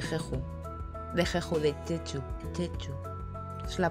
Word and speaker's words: Jeju: Jeju. Es la pronunciación.